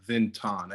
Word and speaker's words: Xenton: think the o is kind of like a long o sound i'm not a like a i don't know grammar grammar person but i don't know how to what people that know how to pronounce what pronunciation pronunciation is i don't really know me neither i don't know the o is supposed to be long but uh yeah zinton